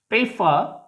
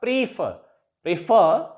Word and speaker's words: prefer: Now the stress is on the last syllable here, and we shall pronounce it as begin, not begin. Begin, remain, prefer, not prefer, prolong, regard, forget, not forget.